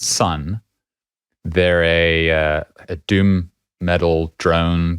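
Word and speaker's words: Sunn O))): Oh, actually, I think it's O and then brackets, but apparently you don't say the O and bracket part.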